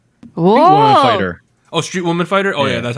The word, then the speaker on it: Street Woman Fighter: currently dancing in on the uh variety show woman street fighter fighter oh street woman fighter oh yeah that's how you say it know